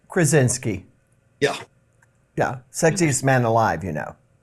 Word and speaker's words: Krasinski: I can't pronounce his last name. Krasinski.